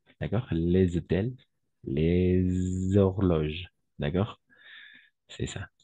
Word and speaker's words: les hôtels: Même avec le H muet, parce que le H est muet. D'accord? Les hôtels, d'accord? Les hôtels, les horloges, d'accord?